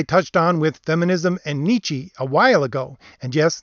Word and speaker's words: Nietzsche: topic that i touched on with feminism and nietzsche a while ago and yes that's how i